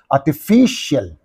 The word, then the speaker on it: artificial: this these two syllables what is the syllable preceding the suffix means Fe that's that's why you have to say artificial ceremonial cial of I